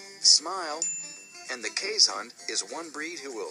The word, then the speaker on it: Keeshond: smile, and the Keeshond is one breed who will smile back.